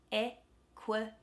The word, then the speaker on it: equity: E is stressed. Equity. So that middle one, that middle I is a schwa.